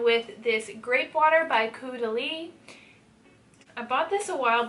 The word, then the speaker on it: Caudalie: enjoying using lately, and I have it, and Caudalie is a very high-end brand, so I'm gonna use it. And I'm finally saying it right. I used to, whenever I first got it, I thought it was Caudalie or something like that, and so then I